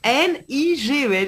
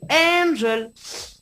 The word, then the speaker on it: Ngel: ton pseudo radio et au lieu d'écrire Angel, N-G-E-L, le mec, il te met Nigel, N-I-G-E-L. Et là, tu fais wow. Oh, on se réveille. C'est Angel. Mais non, il nous la prononce à l'anglaise. Nigel.